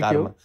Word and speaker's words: Karma: Whatever I'm not going to say, go around saying everyone that so I, it's I'm basically karma. Karma. Karma. Yeah, karma. That's how the Tibetan we all pronounce right.